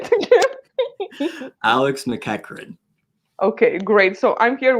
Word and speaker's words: McEachern: McEachern. But and no one ever gets this right. You look at it and it's spelled like McEachern, so that's what I get all the time.